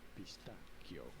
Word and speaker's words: pistacchio: In Italian, however, it is said as pistacchio. Oh. Pistacchio. Okay, that makes sense. Just like the Greek word it came from. However, in Italian, it is spelled with double C before the H.